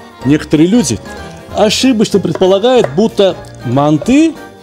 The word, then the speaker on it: манты: Они будут говорить не манты, а манты. В тюркских языках ударение ставится всегда только на последний слог. Ну, не бывает города Самарканд, бывает город Самарканд, и блюдо должно называться манты.